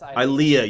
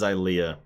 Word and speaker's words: Ilia: I think it's Ilia. It's Ilea. You're right. It is Ilea.